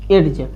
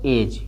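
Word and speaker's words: edge: जैसे में देखिए इसको अगर पढ़ना होगा तो अगर हम पढ़ते तो क्या पढ़ते? एड से पढ़ते हैं, एड्ज, लेकिन ई डी है साइलेंट है। अगर डी साइलेंट है तो क्या पढ़ेंगे? इसको एज, क्या पढ़ेंगे? एज पढ़ेंगे।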